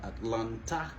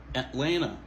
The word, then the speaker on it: Atlanta: Deuxième TA, il va prononcer. C'est pas Atlanta, ok? Mais c'est plutôt Atlanta, Las Vegas, Las Vegas.